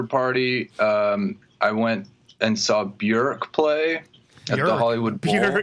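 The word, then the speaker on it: Björk: ork I know that's what weight the real pronunciation is burek is this a yeah exclusive well the person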